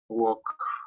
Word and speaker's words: walk: Walk. Walk, that's right, walk. No son the walking dead, sino the walking dead, correct. Entonces, esa L no suena, ¿no?